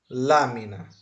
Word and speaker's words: lámina: a sílaba tônica né Tem um acento lámina o que que nós vamos fazer Vamos separar as sílabas nós temos lâmina é uma palavra trisílaba tem três sílabas tá aqui um que é la dois mi TR na três sílabas então na vai ser a última sílaba mi vai